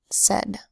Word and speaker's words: said: here's another one yes a id uses the AI phonogram but it doesn't make a long a sound makes a short e sound yeah what is it said here's one with a